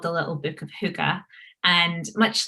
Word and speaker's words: hygge: and i can't i've i looked up how to pronounce this word h-y-g-g-e hygge nicely done thank you i did